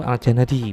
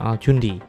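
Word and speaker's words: الجندي: dengan penyebutan penutul aslinya jadi bacanya itu aljanadi bukan aljundi menurut azirqli bahauddin aljanadi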